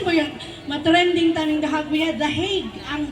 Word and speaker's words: The Hague: The Hague ang pagka-pronounce ana.